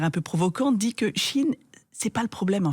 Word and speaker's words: Chine: On en a beaucoup parlé, marque Chine, marque Shine, on sait même plus comment le prononcer. Je crois que c'est Chine la bonne prononciation.